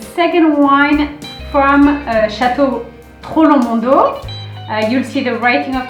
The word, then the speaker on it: Troplong Mondot: that is the second wine from uh chateau trollo mundo you'll see the writing of toronto we don't